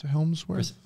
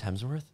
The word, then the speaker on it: Hemsworth: look smarter than hel is that how you say his name hel Helmsworth Chris Hemsworth Hemsworth I'll kiss you got